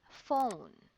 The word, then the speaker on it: phone: Example, the word is phone. Okay? PH here is pronounced as letter F.